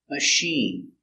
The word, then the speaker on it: machine: meal very good example machine CH is soft because it comes from French machine this is my washing